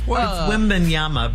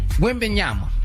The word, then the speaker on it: Wembanyama: It's Wembanyama, by the way. Wembanyama.